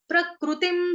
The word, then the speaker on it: प्रकृतिं: प्रकृतिम हिंदी में क्या बोलते हैं? प्रकृति। संस्कृत में क्या बोलेंगे? प्रकृ। प्रकृ। क के नीचे क्या है? आधा क, उसके नीचे रू की रू, ऋषि वाला रू, प्रकृ। त के साथ है छोटी की मात्रा तिम। अनुस्वार जो ऊपर बिंदी है उसका उच्चारण होगा हलंत म।